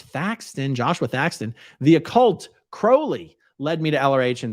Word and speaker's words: Crowley: his name correctly um most people say incorrectly Crowley it is Crowley all right Kim Kim